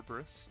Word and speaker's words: Cerberus: on to our links nightmare Cerberus or kerberus if you're into the ancient Greek pronunciation uh if this card